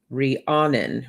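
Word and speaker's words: Rhiannon: is that how they'd give me the pronunciation rihannon rihannon that's the original name okay so let's see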